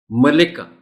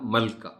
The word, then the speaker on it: ملکہ: خاص توجہ چاہیں گے۔ ملکہ، یہ لفظ بولتے ہوئے خاص طور پر لام کے نیچے زبر کا خاص خیال رکھا جانا چاہیے، اس لیے کہ اگر آپ اس لفظ کو بغیر لام کے نیچے زیر کے پڑھیں گے تو اس کا تلفظ ہو جائے گا ملکہ، اور ملکہ ایک اور لفظ ہے جس کے معنی ہے مہارت، لہذا ہمیں احتیاط برتنی چاہیے اور اسے ملکہ ہی پڑھنا چاہیے۔ اہم، یہ ان الفاظ